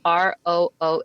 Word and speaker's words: Roos: But I learned to rock my, it's actually pronounced a little bit differently, but when I speak English, I can't even pronounce my own name the Dutch way. So I just say Roos the English way.